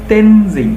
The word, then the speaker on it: Tenzing: তো এটা Edmund Hillary and তেনজিং। দেখো এখানে কিন্তু টিইএন, এই যে টেন, এটা কিন্তু আমরা ট বলবো না, আমরা বলবো ত, ত উচ্চারণ হবে। তেন, টিটা বড় হাতের হবে অবশ্যই, যেহেতু নাম তেনজিং, জিং, তেনজিং নোরগে।